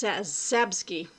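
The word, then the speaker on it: Czapski: ski so but uh you got the cz so it's sabski um introduction by timothy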